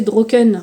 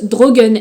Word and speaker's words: Droken: Par exemple là, on a le mot donc Droken, qu'on pourrait prononcer Droken de premier abord quand on le lit. Et c'est écrit, se prononce Drogen.